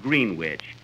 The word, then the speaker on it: Greenwich: Kenny, that's not Greenwich. You see, here in New York, it's pronounced Greenwich. Greenwich, see?